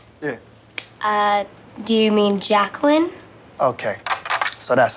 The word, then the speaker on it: Jacqueline: feel me okay let's take a roll here Jay quellin where's Jay quellinet no Jay quella here yeah uh do you mean Jacqueline okay so that's how it's gonna be y'all